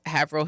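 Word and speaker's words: Haverhill: And there was like they were like, "What's Haveril Hill?" I'm like, "You know, the one off like near military there." And they had to like tell me that's not how you pronounce it. It's Havil Hill.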